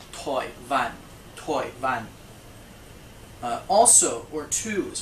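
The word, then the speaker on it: 台灣: Taiwan is pronounced Toi Van.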